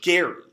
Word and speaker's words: Gerry: the name gary mander after governor elbridge gary which we then proceeded to mispronounce to the point that we now call it gerrymandering so strange shapes have